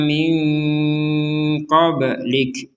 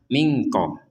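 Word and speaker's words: من قبلك: unzila ilaika wama unzila min qoblik ini juga sama nun sukun kepentemu dengan huruf qof ini juga samar mq jadi jangan langsung dibaca mingqo mingqo atau dibaca jelas minqo minqo jadi dibacanya min qoblik di sini ada huruf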